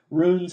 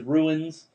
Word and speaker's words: runes: Like runes, he pronounces ruins.